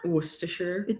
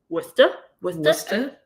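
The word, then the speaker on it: Worcester: That's probably not even how you pronounce it cuz like how do you pronounce Worester? Worsherer. It's Worester.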